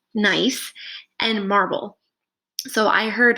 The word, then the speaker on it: gneiss: Examples of this rock type include, I believe it's pronounced gneiss, and marble.